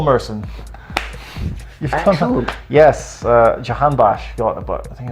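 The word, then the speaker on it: Jahanbakhsh: Now, do you want to pronounce their big money signing this year from Alkmaar? Jacan Bash. Very good, Paul Merson. You've done that. Yes, Jahan Bash got about, I think it's over 20 goals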